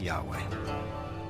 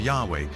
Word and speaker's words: Yahweh: and his name was these four letters which in English would be yhw H which we think were probably pronounced something like Yahweh but Yahweh only appears